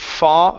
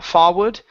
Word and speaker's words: forward: the word forward okay give me an o r instead of far forward it's for forward forward forward uh forward